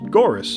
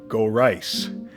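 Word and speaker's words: Gorice: as a child just goris oh kingoris but here he makes it clear that it's meant to rhyme with Thrice meaning that it would be more like go rice and I hate that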